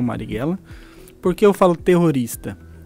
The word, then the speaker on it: Marighella: Marighella, é isso mesmo, é assim que pronuncia, né? Isso, Marighella.